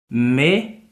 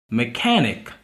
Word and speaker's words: mechanic: So this word is mechanic. And for the fact that you see the stress mark here, it means that the ka is has to be pronounced higher than this me and then that nick.